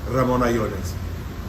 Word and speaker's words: Ramon Allones: this morning we're smoking the Ramon Allones by AJ Fernandez. It's not the way you pronounce it. How do you pronounce it? Ramon Allones. Man, I can't say it like that.